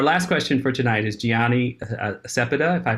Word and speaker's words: Gianny Cepeda: So our last question for tonight is Gianni Cepeda, if I pronounced her name correctly. The floor is yours. Hello, hi. My name is Gianni Cepeda, really close.